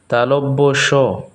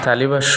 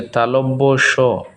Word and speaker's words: তালব্য স: অন্তস্থ জ, বয়ে বিন্দু র, ল, তালব্য স, তালব্য স। এটাকে আমরা অনেকেই তালিবাস্য বলি, এটা হচ্ছে তালব্য স।